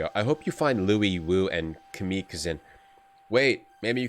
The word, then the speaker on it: Louis Wu: Louis Yu. Oh, she thinks we're Louis Yu, who I was pronouncing wrong the whole time. Greetings, friend. You mistake me for Louis Wu.